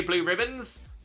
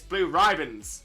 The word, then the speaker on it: Blue Riband: Everyone, if you ask someone what are those chocolates called, people will say blue ribbons, but it's not pronounced like that. It's blue ribands. Blue ribands. It's totally different.